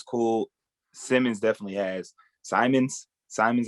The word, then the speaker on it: Simons: Simons, I think is how you pronounce it.